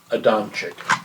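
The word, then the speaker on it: Adamczyk: Yeah, it's Elizabeth Adamic, and it's spelled A D A M C Z Y K.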